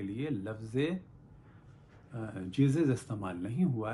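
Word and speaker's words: Jesus: ये जीसस कैसे हुआ, तो क्योंकि ग्रीक लैंग्वेज में आई को जे की सूरत में भी लिखते थे और आई की सूरत में भी लिखते थे, तो बाद में लिखा जाने लगा जे की सूरत में, तो आई बदला जे की सूरत में, और साथ में आई साउंड जो है वो बदल गई जे साउंड में, और हो गया जीसस।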